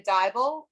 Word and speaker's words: Dybal: important our prior guest tanya dybal rhymes with bible and um her pet